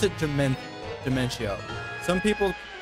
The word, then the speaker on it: Dementio: I pronounce it Dementio. Some people pronounce it Dementio. Some people just pronounce it Demento. I pronounce it Dementio because that's what I think it's supposed to be pronounced.